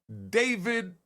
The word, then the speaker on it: D4vd: David Burke, aka David, spelt with a 4, D4vd.